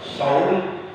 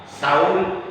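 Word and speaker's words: صوم: Jadi kalau menggunakan huruf shad, shaum itu artinya puasa. Tapi kalau bacanya salah, huruf shad diganti dengan huruf sa, saum itu artinya bawang merah.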